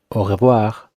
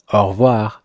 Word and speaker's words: au revoir: Native French speakers tend to say it quickly, so you most likely won't hear it pronounced au revoir. The E would be removed, so if you heard it in France, it would sound like au revoir, but faster.